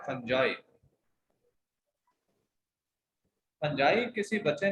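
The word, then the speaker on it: fungi: अच्छा, फंजाई का बच्चा पूछ रहा था, फंजाई वर्ड याद रखें, मतलब इसका प्रोनाउंसिएशन क्या है? फंजाई।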